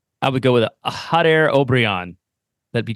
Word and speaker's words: Jader Obrian: you like to take a crack at the pronunciation of the new player's name I would go with a hot air obrion that'd be correct I believe so yeah I